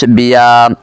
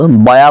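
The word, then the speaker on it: بیا: ফার্সি কি পেহলি কিতাব ক্লাস 28-এ আমি বিয়া শব্দটিকে ভুলবশত বয়া বলে ফেলেছিলাম। এটার সঠিক উচ্চারণ হলো বিয়া, যার অর্থ হলো আসো। এটি হলো সিগা ওয়াইদ হাজের বহস আমর হাজের মারুফ। আশা করি বুঝতে পেরেছেন। আপনারা সেই শব্দের উচ্চারণটা বয়া পড়বেন না, বিয়া পড়বেন।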